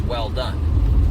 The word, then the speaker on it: Welldone: Not that many guys or gals know, but my last name is actually pronounced well done, like good job, right?